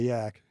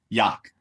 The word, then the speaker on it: Yough: Is it the Yawk or the Yak? Yawk. The Yawk. Yeah, it's funny that the two different spellings are for pronunciations. They do the Y-A-W-K, and I see wherever folks get the yak from, but it's Yawk, Y-O-U-G-H. The rest of it I can't spell.